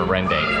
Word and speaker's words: rendang: It is pronounced Rendang.